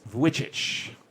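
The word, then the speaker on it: Vujicic: like him too like nicholas whichich that is the way that he pronounces his name i'm pretty sure he was the first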